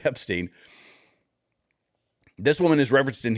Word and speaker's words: Epstein: I just put the wrong emphasis on the wrong syllabo. Jeffrey Epstein.